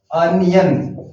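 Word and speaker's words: onion: और यहाँ पर है अनियन, ये देखिए अनियन, इसका उच्चारण भी है अ से शुरू होता है, नॉट ओनियन, अनियन।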